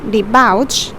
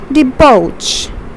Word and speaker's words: debauch: Although it's B-A-U-C-H, but you don't pronounce it as debauch, but you say it as debauch.